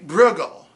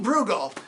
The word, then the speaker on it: Brueghel: but it's not it because it's not German so you just say Bruegel and if they don't get what you're talking about you say well Bruegel and they say ow do you mean Bruegel that you can just